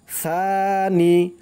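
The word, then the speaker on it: ثاني: আবার পড়ি, লা ইলাহা ইল্লা আনতা ওয়াহিদাল্লা সানি, সা এক আলিফ টান দিতে হবে, সার উচ্চারণটা একদম নরম করতে হবে, জিহ্বার মাথা উপরের দাঁতের মাথার সাথে লাগবে, সানি ইয়ালাকা, সানি ইয়ালাকা,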